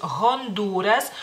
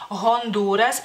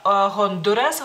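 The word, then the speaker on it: Hondūras: Honduras en lituano es Honduras Honduras y la u es larga tiene un palito digamos así una rayita para que si si no la ponemos sería Honduras Honduras y no es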